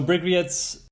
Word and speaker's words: Bryggeriet: So Bryggeriets, how do you pronounce it properly, actually?